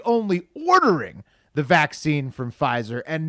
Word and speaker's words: Pfizer: so uh will i i think you got the company name wrong it's provisor p pfizer yes uh for some reason they they put a silent p at the front of fryzer but it's amazing news